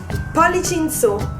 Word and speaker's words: Pollici in su: so put everything together and you will have poly chinsu that was it for today t